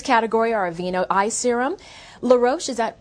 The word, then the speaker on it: La Roche: nominees in this category are aveeno eye serum la roche is that how you pronounce it yes laroche okay avon eye treatment